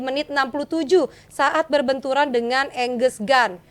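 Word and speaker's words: Angus Gunn: 67 saat berbenturan dengan enges Gun benar ya bacanya enges Gun ya Angus Gun Angus Gun ini benturan kepala ya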